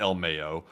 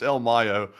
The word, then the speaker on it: El Mayo: It's not El Mayo. We were saying the name wrong the whole time. It's El Mayo.